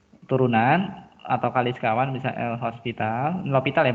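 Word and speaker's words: L'Hôpital: Turunan atau kali sekawan bisa L'Hopital ya bacanya ya. L'Hopital.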